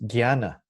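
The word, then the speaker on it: jñāna: in Tibetan which is gianna spell J and a and a in Sanskrit pronounced as Gianna so often you will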